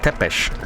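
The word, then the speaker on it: Tepeș: Tepesh.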